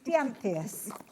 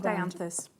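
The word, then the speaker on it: Dianthus: Trying to pronounce Dianeus. Tricky one to get your tongue. Danthus.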